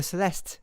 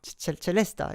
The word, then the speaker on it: celesta: by the harp and the celesta, the celeste. Oh my god, celesta is the Italian way of pronunciation, I guess.